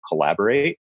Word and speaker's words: Collabor8: the App Store called Collaborate. I don't know if you've ever heard of it. It's like spelled like collab, and then the number 8.